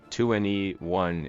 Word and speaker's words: 2NE1: 2NE1 is pronounced similarly to anyone in English, emphasizing the group's appeal to everyone, regardless of background.